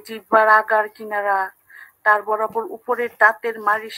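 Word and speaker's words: قَ: কারণ কাফের উপর জবর থাকলে আমরা কা বলি, জের থাকলে কি বলি,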